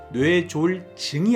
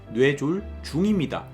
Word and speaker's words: 뇌졸중: 합쳐서 뇌졸 중이라고 합니다이 발음이 중요한데요 뇌졸증이 아니고 뇌졸 중입니다 갑자기 증상을 맞는다고 해서 뇌졸중이 맞는 표현이에요 뇌졸중에 걸리게 되면요 편마비